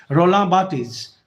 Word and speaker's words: Barthes: इसको Roland Barthes भी बोल सकते हो आप, but because it's a real pronunciation, the name of the writer's name's pronunciation is Roland Barthes.